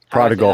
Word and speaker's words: prodigal: Prodigal. That word? Prodigal. Hard G. Prodigal.